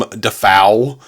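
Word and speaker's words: Dafoe: like starting out and he pronounced his name William defau and he's like they were like what we've all been pronouncing your name wrong this entire time and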